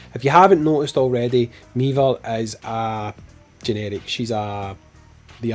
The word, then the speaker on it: Meaver: Let's go, let's talk about, I'm so bad with names, Meaver? Oh, Meaver like Beaver. Meaver like Beaver, that's how I remember how to say her name, Meaver like Beaver.